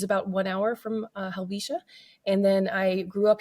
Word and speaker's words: Helvetia: Little Switzerland or swiss Community let's call ourselves Alisha um or Helia some locals say helva it has an e in it so that's